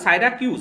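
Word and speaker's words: Syracuse: উত্তর হবে সাইরাকাস, বা উচ্চারণ হবে সাইরাফিউজ, সাইরাকাস না সাইরাকিউজ আর কি, সাইরাকিউজ।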